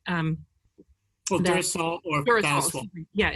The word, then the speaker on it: Faswall: Well, Durasol or Faswall. Yeah, Faswall is the American version.